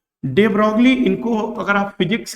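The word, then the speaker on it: de Broglie: Matter and radiation, तो ये डी ब्रॉय के नाम से भी वहां पर जो है प्रोनाउंसिएशन किया जाने के लिए लिखा गया है फिजिक्स क्लास 12 सेकेंड पार्ट में।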